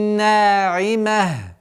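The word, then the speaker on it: ناعمة: Яумаидин на'имah. На'имah. При остановке та марбута переходит в звук ха. В завершении 8 аята вуджуху яумаидин на'имах.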